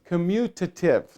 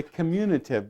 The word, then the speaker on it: commutative: you say the word commutative now some people like to say communitive but it's not communicative and the key word here is commute now does anybody here